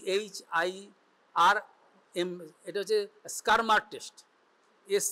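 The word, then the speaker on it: Schirmer: called S সি এইচ আই আর এটা হচ্ছে স্কারমার test S সি এইচ আর এমই আর স্কারমার test যেটা সহজে উচ্চারণ করা এস সি এইচ আই এস সি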